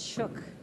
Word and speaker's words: Schug: Schug? If you say it really German, it's Schuck. Schuck. But Schug is what everybody says. So you did really fine.